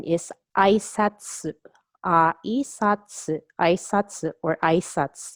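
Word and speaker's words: あいさつ: Aisatsu, aisatsu, or aisatsu. You must drop the U to have the pronunciation aisatsu.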